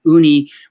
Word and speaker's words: Uni: Uni, which is pronounced like it's spelled like uni, like unisex or whatever.